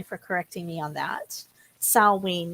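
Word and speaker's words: Samhain: Salween, not Sam Hain.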